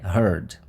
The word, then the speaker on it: heard: d tá é só o d e a pronúncia é heard os verbs by think e bring eles têm